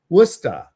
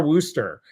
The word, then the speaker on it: Worcester: Worcester. With Worcester. See, I can do it. I don't have to have my Midwestern accent that wants to say Wooster. It's Worcester.